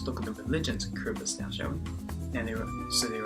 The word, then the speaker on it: Kiribati: Now guys, if you look at the word Kiribati, it sounds like Kiribati. Well, no, that's not how you pronounce it. It's pronounced Kiribati.